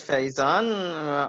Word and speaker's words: Faison: tour yes yes and Faison if I am pronouncing your name correctly hi absolutely right my name is Faison I am from the